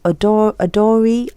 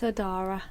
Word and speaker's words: Odara: So joining me this week, alhamdulillah, I'm really happy to say I have the Odari, am I saying it right? It's Odara.